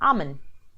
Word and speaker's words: almond: the little nut call almond so I used to say this myself with an L in the middle so the correct way